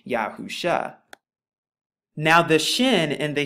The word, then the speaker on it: Yahusha: talk more about the name of our Mashiach, Yahusha, and why I arrive at Yahusha. Now you can find more about this in Strong's H3091. Now, of course, the pronunciation that they're going to give you is Yahoshua, but we're going to find a little bit